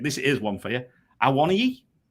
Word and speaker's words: Awoniyi: Awoniyi. Awoniyi. And I think the Scamacca. accent is on the final I. Awoniyi.